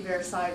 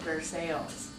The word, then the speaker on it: Versailles: That's like, well, we live in Alameda, and they don't call the street Versailles, Versailles. They call it Versailles.